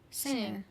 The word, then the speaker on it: singer: Okay, so note that I said singer, and these two in the middle said singer with a G, and they pronounced the G. This is what my wife does. She pronounces G, and we got in this big debate because I said ing, the G is silent. When you say sing, it should be sing.